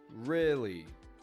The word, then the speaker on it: really: Crystal's spelled with a Y, busy with a U, really is spelled R-E-A-L-L-Y, and it really is making an I sound.